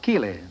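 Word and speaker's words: Keighley: came from the English town of Keeley kou e l e y no spelled like my own name ke i g l y I understand margarite you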